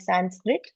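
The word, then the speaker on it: संस्कृत: pronounce they call it Sanskrit okay and some variations they call it samskit also samskit samrit No samski they call it like this which is very close to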